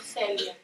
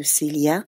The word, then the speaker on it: Célia: Je m'appelle Célia. Je répète le prénom de Célia avec la même intonation qu'elle pour montrer que je respecte le modèle qu'elle me donne. La syllabe accentuée est la première.